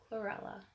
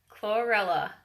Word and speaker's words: chlorella: Chlorella. I always think of Cruella de Vil. Chlorella.